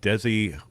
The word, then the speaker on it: Desiderata: Desiderata? Did I screw it up? I screwed it up. Yeah, it's like desire, desiderata. Desiderata.